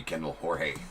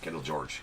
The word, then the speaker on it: Kendall George: There's a Kendall Jorge. Kendall George. Kendall George is the Dodgers. always wanted to call him Kendall Jorge, but I don't think that's how you pronounce it.